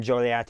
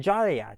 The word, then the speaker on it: Joliet: Now, you may ask, why is it pronounced Joliet rather than Joliet? You see the beginning part of Jolly, and then you see an E-T, so Joliet.